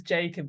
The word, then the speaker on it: Jacob: because I wasn't sure whether it was Jacob or ycob because sort of the spelling as well so I'm glad I've always thought of it as Jacob because they've got mainly